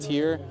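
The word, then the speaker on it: Tyr: But yeah, if you just uh Google SCAD cars or scad ether scad tier tier is spelled t y r, you can find more.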